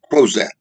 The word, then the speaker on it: Crozat: 1712 a man by the name of antoine crozette c-r-o-z-a-t antoine crozette who was a very wealthy